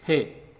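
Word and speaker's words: हे: And hey is pronounced like he in hen.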